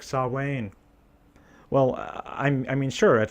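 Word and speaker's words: Samhain: behind it and that includes learning how to pronounce things properly like saw Wayne well I mean sure at least nobody would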